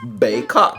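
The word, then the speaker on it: Baykok: And the name is actually pronounced Baycock. Okay, that's the name of this thing.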